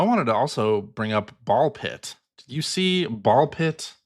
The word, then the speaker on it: Ball x Pit: from that presentation was Ball Pit. Yes. which is pronounced ball pit and not ball cross pit or ball x pit or ball times pit.